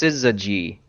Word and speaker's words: syzygy: what the assist geez it's pronounced syzygy fine City as the nearly straight line configuration